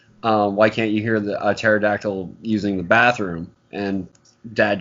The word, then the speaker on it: pterodactyl: can't you hear the pterodactyl using the bathroom and Dad joke because the P is silent and Tristan like what